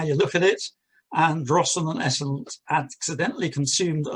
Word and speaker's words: Drosten: The constellation represent Tristan, or as I should say in the Pictish, Drosten was the way they pronounced it, would have called it.